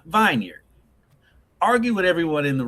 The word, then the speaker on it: Vineyard Vines: Preston thinks vineyard is pronounced vineyard. Argue with everyone in the room who was like, Preston, it's vineyard, it's not vineyard. Oh yeah, it's vineyard. Look how it's spelled.